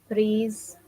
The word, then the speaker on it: prise: Prise. It's like saying, it's like if you see the writing is like saying pretzel, but no, it's le prise, prise, prise.